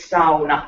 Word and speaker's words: sauna: to say something here the actual word is sauna that's how it's pronounced word if i hear anybody here so